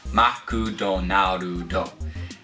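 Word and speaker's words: マクドナルド: right McDonald's well well in Japanese it's six syllables it's maku Donar do try saying that 10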